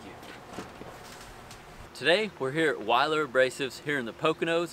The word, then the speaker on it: Weiler: Today, we're here at Weiler Abrasives here in the Poconos of Pennsylvania. Some of you might know it as Wheeler, like I did, and apparently we've been saying it wrong.